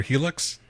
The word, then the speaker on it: Hilux: uh was it called is it pronounced Hilux or Helix hux Toyota H Helu